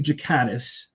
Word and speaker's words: Ghikadis: But uh yeah know it's Jakatis. It's a it's a soft G.